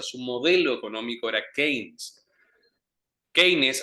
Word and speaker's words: Keynes: Keynes, así como se escribe, Keynes, es un economista que utilizan generalmente los peronistas, ¿sí?